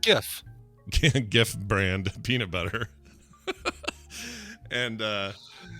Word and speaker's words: Jif: It's pronounced GIF.